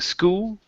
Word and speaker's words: school: see here H School add that L at the very end instead of saying school it's SCH school one time cool good